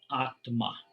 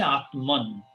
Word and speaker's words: Atman: In Sanskrit, we call Atma. Some people say Atman. Some people pronounce.